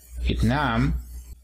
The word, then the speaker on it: Vietnam: Luego tenemos el país de Vietnam, y lo tenemos aquí, el acento en la segunda sílaba. Vietnam.